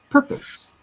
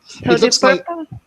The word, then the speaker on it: purpose: the way let's be careful with the uh pronunciation of that word the purpose purpose thank you purpose good it looks like an O like purpose